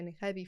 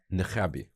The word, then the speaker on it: niqabi: I also have niqabi friends. And what's the difference between the hijabi and how do you pronounce it? Niqab. Niqabi. So it's Niqabi, niqabi.